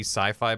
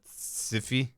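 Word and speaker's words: Syfy: connection to not be sci-fi but siffy I made it I was gonna say that as a joke why it's s-y-f-y oh okay I know that it's pronounced sci-fi but they're like it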